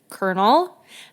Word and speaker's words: colonel: Colonel I me too that word messes me up every time why is there an L why is it spelled like colon L I don't know but that's what it is in French s Colonel yeah I know